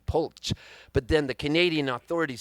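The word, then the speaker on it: Polcz: was but it was p-o-l-c-zed p-o-l-c-z pulch but then the canadian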